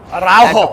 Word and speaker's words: Araujo: Araujo, that's how you SAY IT.